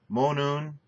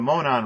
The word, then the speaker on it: Monon: You have Monoon. It's the Monon Railroad. It's not the Monoon.